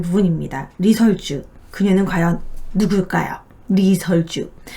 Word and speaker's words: 리설주: 리설주. 북한에서는 이 씨를 아직도 리라고 발음하기 때문에 리설주라고 하죠. 우리나라로 치면 이설주가 맞습니다.